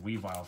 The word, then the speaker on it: Weavile: Sneasel when I sneeze by the way it's pronounced Weavile for ism evolution not evil we violent way